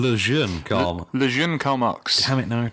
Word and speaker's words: Le Jeune Karl Marx: What's the French pronunciation? Le Jeune Karl. Le Jeune Karl Marx.